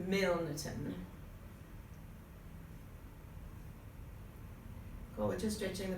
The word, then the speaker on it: Milnerton: For those of you that don't live in Millerton, you have to pronounce the N, so Milnerton.